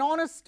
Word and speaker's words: honest: the following five words remember the following five words with silent h take an an hour an honor an honest man an air an heirloom in all these five words the beginning letter is H but it is not pronounced so we have used an Let's test ourselves okay